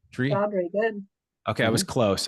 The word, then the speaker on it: Seshadri: I'm trying to get your last name wrong. Seshadri, is that right? Seshadri, good.